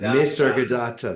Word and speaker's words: Nisargadatta: Nisargadatta. That's it. Nisargadatta Maharaj. One of my One of these days we're going to put a little picture of him up here, too, because Nisargadatta is one of our favorites.